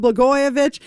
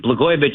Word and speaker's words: Blagojevich: Before I do that, let me just explain to John Catsimatidis Blagojevich isn't hard to say. It rhymes with Catsimatidis.